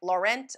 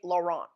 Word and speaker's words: Laurent: and say it like Laurent or maybe I'll just say lauron the English version of how it should kind of somewhat be in French so that's what we're